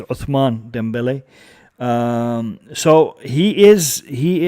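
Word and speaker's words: Ousmane Dembélé: topic is surrounding uh osman dembele um or the way we should actually pronounce it is uthman dembele um so he is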